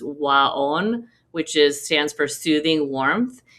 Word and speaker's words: Waon: Google a therapy called Waon, or it's actually, the way you pronounce it is Waon, which stands for soothing warmth.